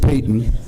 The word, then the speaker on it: Paton: It's spelled like Paton, but George Payton.